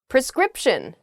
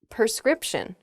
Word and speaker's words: prescription: mother for her birthday jewelry we're too lazy prescription not prescription okay a prescription is something that a doctor